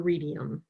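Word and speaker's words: Readium: James math ml support on road map for radium did I pronounce that right that's correct I was just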